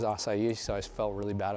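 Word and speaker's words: açaí: say or pronunciate assai I used to say a Kai but somebody told me it was assai so I felt really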